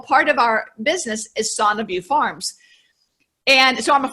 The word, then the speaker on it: SanaView: We have a son of you, which you're one of the few people that pronounce that correctly, by the way. Son is Latin for wellness.